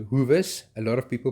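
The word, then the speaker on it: Hoewes: to stay in the Hoovers um that is pronounced huas a lot of people pronounce it as hus which is incorrect the Hoover a Hoover is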